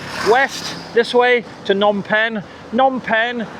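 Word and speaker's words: Phnom Penh: Nonpen is actually spelled P H N O M but a silent P and a silent H. Nom P E N H.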